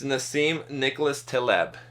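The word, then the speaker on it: Nassim Nicholas Taleb: never to just guess at it so it's Nim Nicholas TB Nim ncas TB skin in the game is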